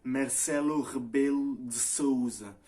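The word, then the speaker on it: Marcelo Rebelo de Sousa: Marcelo Rebelo de Souza. Alors, c'est lui. Et ça s'écrit comme ça.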